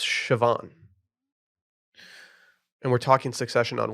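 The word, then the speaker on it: Siobhan: are you talking about the cians it's pronounced sioban and we're talking succession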